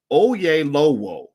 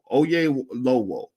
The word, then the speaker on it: Oyelowo: It's spelled OYELOWO. That sounds like oh-YEL-oh-woh, oh-YEL-oh-woh, oh-YEL-oh-woh, oh-YEL-oh-woh, oh-YEL-oh-woh.